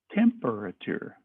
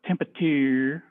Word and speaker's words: temperature: it's temper now you see why I take my time saying that word because it helps me spell it it's not temperature or temperature it's temperature there's an A in there its temperature decreases